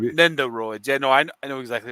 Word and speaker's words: Nendoroids: He says, "Hey guys, I'm watching the show and playing with my new Nindoroids." Is that Shane? Do you know how to pronounce that? Or well, no, it's Nindroids, right? Nendoroids.